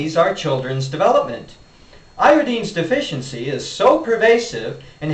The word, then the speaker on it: iodine: YouTube by the way iodine is pronounced iodine to rhyme with Florine chlorine and bromine in case you want